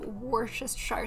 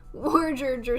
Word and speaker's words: Worcestershire: Go to Wikipedia and click the speaker next to pronunciation. Worcester sauce. Wikipedia. Worcester or Worcestershire sauce. Worcester.